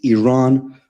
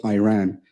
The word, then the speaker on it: Iran: is pronounced I thought you're pronouncing a country's name wrong a country is named Iran not Iran all right I'm gonna bring myself back on